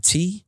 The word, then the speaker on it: Dardant: But most of my handles are Dardant, Dardant. The T is silent because I am French.